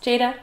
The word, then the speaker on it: Jada: Am I pronouncing that right? Jada? Yes, Jada.